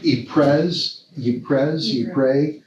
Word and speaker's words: Ypres: And he was a bishop of, how do you pronounce it? Ypres.